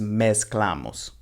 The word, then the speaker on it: mezclamos: so that's despues recognize remember that ceta has more of an s sound rather than that vibrating z sound in english so this is mes clamos la mes clamos con